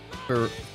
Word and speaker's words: Ferrero: Ferrero Rocher with a silent R. Fo Rocher. Oh, is it Rocher?